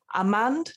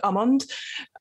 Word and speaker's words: Ammann: very excited to have amand i've said it wrong already haven't i almond tell me how tell me i've said it wrong already go for it yeah it's almond almond no tea nope too british i'm so sorry how